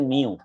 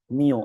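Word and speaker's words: μ: এটার উচ্চারণ হচ্ছে মিউ। এটার উচ্চারণ কি? মিউ।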